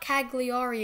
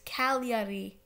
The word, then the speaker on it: Cagliari: It's not Cagliari, it's Cagliari. I don't know why the G isn't pronounced.